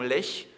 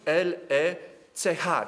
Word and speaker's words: Lech: Zostali rozgromieni w bitwie nad rzeką Leś w południowej Bawarii, którą ponieważ rzeka Lech pisze się L-E-C-H, czyli po polsku Lech, tak?